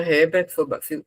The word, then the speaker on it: Herbert: Muito bem, obrigada, Herbert. Herbert, Herbert, não, Herbert, agora foi certo, né? Herbert. Herbert, professor. Herbert, Ah, e é mudo o H.